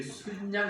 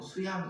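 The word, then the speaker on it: 숫양: 여기 순양 이래 나오잖아요. 우리 이 발음하기 어렵죠. 순양, 수양. 우리 보통 수양 이렇게 하실 건데 순양 한 마리, 수컷이 한 마리 여기 딱 있는 겁니다.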